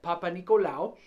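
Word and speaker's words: Papanicolaou: That's how you say it, Papa Nicolau. Now, I can't really guarantee you that's how you spell it, but that's how you say it.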